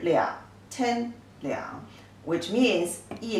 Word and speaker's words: 两: This character, you see, two people inside, and it pronounced as le yi ang liang, the third tone.